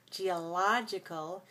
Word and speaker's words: geological: the second geologist geologist when we get to the adjective we have the ending geological so here's how i want you to remember it always remember or just think of logical oh that's logical oh that's so logical